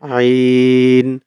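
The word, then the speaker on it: عين: হরফ শিখবো একটা হচ্ছে আইন আইন এটা হচ্ছে হলক এই হলকের যে মাঝখানের পোরশন এইখান থেকে উচ্চারণ হবে হচ্ছে আইন আইন আমরা অনেক সময়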